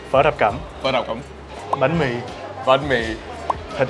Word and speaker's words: phở thập cẩm: In Vietnamese it's phở thập cẩm. Phở thập cẩm. Phở thập cẩm. Phở thập cẩm.